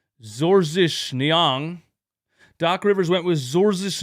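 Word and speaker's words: Georges Niang: Doc Rivers went with George Nyang to pron to pronounce it in in his father's native language. Zorzish Nyang.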